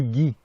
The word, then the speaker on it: Ghis: Qu'on appelle du Guy. Oui, le beurre clarifié. Hein? Ben, du beurre clarifié. Alors, ça se prononce comme le beurre clarifié, mais ça s'écrit G-H-I-S parce que mes parents m'ont nommé, G-H-I-S-L-A-I-N-E.